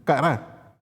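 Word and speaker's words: קָרָא: Según el diccionario Strong Concord, la palabra hebrea 71:21 y se pronuncia kará.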